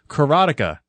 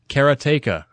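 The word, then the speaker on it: Karateka: actually come out now karatica no I'm mispronouncing that keratea this is one that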